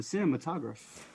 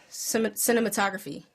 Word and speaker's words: cinematograph: and projector called the cinematograph. Is that how I pronounce that? Cinematography. Or cinematographer? Cinematograph. Cinematograph. Cinematograph. Graph. The time of my grad. Whatever. It's not cinematography.